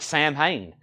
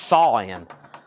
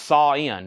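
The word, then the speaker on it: Samhain: in on that and I've always heard it Sam Hayne someone is saying it's pronounced saan Sam Hayne is possibly being pronounced sa in is what I'm being told all right let's go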